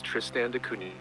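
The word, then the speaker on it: Tristan da Cunha: please k your spot on oud and your pronunciation isn't far off it's Tristan dun but you're nailing the spirit of it so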